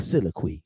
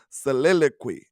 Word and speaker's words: soliloquy: A soliloquy. You know what I'm saying? I'm gonna tell you one more time. Look, man, You can't let a country boy correct your terminology now. Soliloquy, okay?